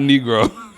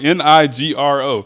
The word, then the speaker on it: Nigro: but I'm say I'm probably saying it wrong not negro Daniel n i g r o Daniel negro n i g r o negro n Nigro Nigro Nigro Daniel Nigro mhm I